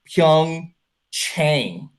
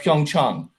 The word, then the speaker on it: Pyeongchang: to ignore it and they went with pyeongchang chang instead of pyeongchang what an insult to